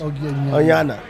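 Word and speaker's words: Ognjena: Oyana. Somebody says it's how you pronounce it.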